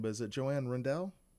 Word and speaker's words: Rendell: say her last name, but is it Joanne Rendell? It's Rendell.